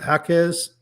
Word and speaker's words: Jaquez: Is it Jaquez? I want to say it. Yeah. I mean, I think that's how you pronounce it. I always want to say it with a J, but I think it's